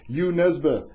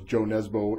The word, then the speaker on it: Jo Nesbø: been speaking with author U neba and also known as Joe Nebo if you're looking him up because that's how it's spelled and ybos the leopard